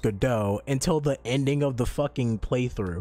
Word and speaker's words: Godot: i'm just like yeah good dot and no one not a one person decided to say oh by the way it's pronounced godot until the ending of